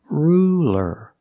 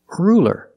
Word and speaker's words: ruler: It's a light L because it's between vowels. So it's not ruler. It's ruler. Ruler. Use a light L. It's straighter. Ruler.